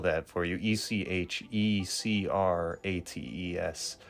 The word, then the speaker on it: Echecrates: Echecrates. So Crates, like Socrates, and then Echecrates, whatever.